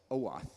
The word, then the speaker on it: OAuth: how they solve their, and I always mispronounce it, OAuth, how do you pronounce it? OAuth, thank you.